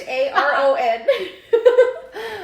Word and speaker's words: Charon: I'm going to call that one Sharon. Sharon? Even though it's Charon. We're going to call that one Sharon. Sorry. Sharon, Nyx, Hydra, Kerberos?